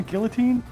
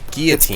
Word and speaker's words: guillotine: they don't have a guillotine popular like you know with two l's that aren't pronounced that's true it's like